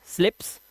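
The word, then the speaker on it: sleep: कह रहा my father स्लिप्स। मैंने कहा स्लिप्स। मैंने कहा व्हाट इज दिस? आपके पापा फिसलते हैं। कह रहा नहीं सोते हैं। मैंने कहा सोते हैं तो स्लीप long vowel sound pronunciation को प्रॉब्लम था उसका एट द डेप्थ।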